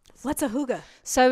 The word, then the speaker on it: hygge: I'm not a Hygge. Hygge? How you say it? What are you trying to say? It's like cougar, but hygge, isn't it?